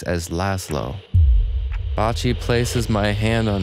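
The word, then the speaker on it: László: It is pronounced as Italians sometimes do, Laszlo, and not as Hungarians, with a soft S as Laszlo.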